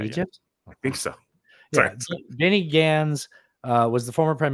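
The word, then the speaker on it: Gantz: but um uh Benny Gans I always want to say Benny glands but that's the head of the penis it's spelled the same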